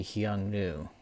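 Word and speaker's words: Xiongnu: They may or may not come from the Hyangnu, if I'm pronouncing that correctly. That's spelled with an X.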